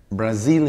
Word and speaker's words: Brazil: acento si por brasilia brazil ya tampoco pierde el acento la segunda sílaba así en el diccionario